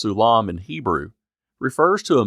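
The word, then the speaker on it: סולם: The word often translated ladder which is pronounced sulam in Hebrew refers to a mound or constructed embankment.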